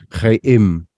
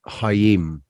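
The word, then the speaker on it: האם: So chayim, not hayim. Oh, yeah, like over here it's the letter at the beginning is hey, not chet.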